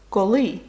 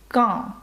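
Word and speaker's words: quand: пухкоє скеті далі слово Call коли Зверніть увагу на вимову com це носовий звук ко наприклад коли ти працюєш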